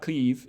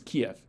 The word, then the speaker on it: Kyiv: kind of you know if you go from an e to an you kind of get this yad ya sound in the middle for free so kiev um but that's basically how it's pronounced whether you are doing the yad intentionally or not um yeah so it's not cleave it's kiev uh yeah so um